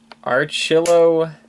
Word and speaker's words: Achillobator: Let's pronounce this properly. Achillobator.